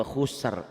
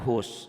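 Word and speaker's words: خُسْرٍ: Ini juga khusar, bukan hus ya.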